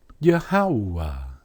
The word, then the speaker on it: Yahweh: But listen, you can't escape the oo sound. Even if you add an ah after the ha. Yahweh. Yahweh. Yahweh. A strong oo sound.